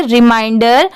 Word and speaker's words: reminder: अ रिमाइंडर, REMINDER, इसे क्या पढ़ेंगे रिमाइंडर। यहाँ पर RE MIN की साउंड यहाँ पर क्या आ रही है माइन की आ रही है, इसे मिन नहीं पढ़ेंगे माइन, और DER की क्या साउंड आ रही है डर।